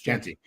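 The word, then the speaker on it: Jeanty: Am I saying his name wrong? Is it Is it Genty? Genty. It's Genty.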